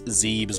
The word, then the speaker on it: Zebes: pronounce zebus I have I've always pronounced it zabis but some people are like it's Zebes miles luigi it's the